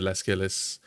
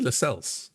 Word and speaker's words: Lascelles: But I had Trippier, Lascelles, and it's actually Lascelles. I've been saying it wrong. So it's Lascelles.